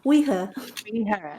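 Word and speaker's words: Oidhche: supposed to be pronounced it's spelled o-i-d-h-c-h-e yeah but it's pronounced like we and her we her okay I'm gonna have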